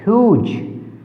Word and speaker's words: whose: Word देखिए WHOSE ह्यूज, यहाँ पर क्या है? W साइलेंट है।